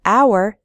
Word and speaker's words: hour: We say a hat because hat starts with an h sound, but in the word hour, the h is silent, so we say an hour.